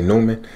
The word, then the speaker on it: Neumann: got my new neumann i think it's pronounced neumann i think some people say newman but anyway my new